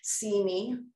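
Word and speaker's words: CIME: intersectional media and entertainment uh pronounced see me great title uh this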